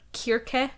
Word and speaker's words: Circe: It's pronounced Circe in American or Kirke in Greek.